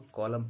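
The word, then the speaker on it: column: पहले एम हो तो एन का उच्चारण नहीं होता। इसको कॉलम पढ़ा जाता है।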